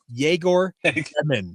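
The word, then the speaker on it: Egor: getting on social media and saying everybody it's jagor he he literally out forever don't feel bad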